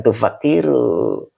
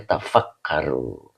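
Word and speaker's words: تَفَكَّرُوا: N jadi bukan tufakiru tamimin tetap dibacanya tafakaru ya.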